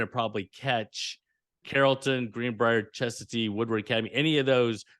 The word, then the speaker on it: Chestatee: But Chestatee, yes, that's how you say it.